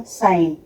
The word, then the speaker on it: sign: जैसे हमने बोला साइन, SIGN, तो जी को हमने यहाँ पर साइलेंट कर दिया।